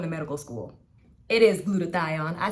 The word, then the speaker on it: glutathione: right i'm going to medical school it is glutathione i said it right for all of these